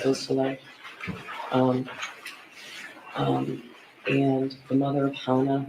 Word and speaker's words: Beausoleil: Could you tell me the pronunciation of Madison Baldwin's mother's name, Nicole Beausoleil? Yes. Beausoleil.